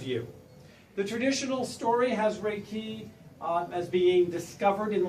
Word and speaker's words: Reiki: Some people pronounce it Reiki. I've always been taught that it was actually pronounced Reiki.